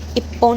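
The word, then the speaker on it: 一本: उसके बाद होन के लिए अब यहाँ देखो इसका प्रोनाउंसिएशन अलग हो जाता है, ई होन नहीं बोलेंगे और लिखेंगे भी नहीं, पोन लिखेंगे, इप्पोन यानी एक, ठीक है।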